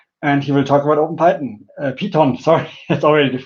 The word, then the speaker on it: OpenPiton: Yeah, we get a lot of people who say OpenPiton or come up with other pronunciations, but yeah, it's named after the piece of climbing equipment, the Piton.